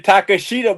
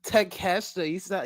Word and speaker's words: Takeshita: But so it sounds goofy when you say Takashita, motherfucker. At least it gets some emphasis. You get some emphasis. Emphasis on what? You got the wrong emphasis on the wrong syllable, motherfucker.